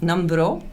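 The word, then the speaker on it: Nambrot: So that's spelled N A M B R O T. NROT say NRO. Numbro because either Veneros and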